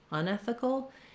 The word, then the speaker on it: unethical: saying ethical, you're saying unethical. In those two contrasts, the main stress is still on the syllable, still ethical, unethical. So the un is a stepping stone to our stressed part of ethical.